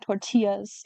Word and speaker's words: tortilla: store-bought tortilla ever again because I've had handmade tortillas in Ensenada. it's pronounced tortilla."